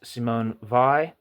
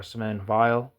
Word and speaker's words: Simone Weil: I think Weil's the German name, but I think it's pronounced in, I think a lot of people in France would pronounce it Weil. I'm not sure. Here's why I'm saying that. If you type in Simone Weil in Google Translate for France, she was French, you'll say Simone Weil.